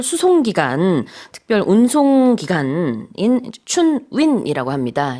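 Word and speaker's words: 春运: 기간, 특별 운송 기간인 춘윈이라고 합니다. 이제 중국식 발음으로 봄 춘자 아까 Spring Festival, 그다음에 이제 운송 운자 넣어 가지고 춘윈이라고 하더라고요.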